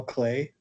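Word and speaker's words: Klee: Have any of you heard of a painter named Paul Clay? His last name is spelled K L E.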